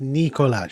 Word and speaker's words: Nikolai: Nikolai won't be joining us. I understand. It's pronounced Nikolaj.